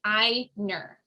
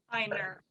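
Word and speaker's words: Ainur: book on this so the a i is pronounced like the english i like like i so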